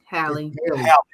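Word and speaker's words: Halle: Is it Holly or Haley? Hallie. Because I did Haley Bailey, and I said that doesn't even sound right.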